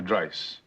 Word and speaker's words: Dice: Dr. Dice. Rhymes with price, which is currently 70 bucks an hour, four times a week.